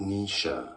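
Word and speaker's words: Naoise: Irish name pronunciation, Nisha.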